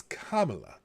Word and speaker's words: Kamala: But it's Kamala, like a comma. La, comma, la.